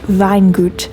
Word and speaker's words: Weingut: It's pronounced something like Weingut, and it means vineyard in German.